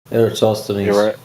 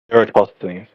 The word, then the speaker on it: Eratosthenes: Eratosthenes. Eratosthenes.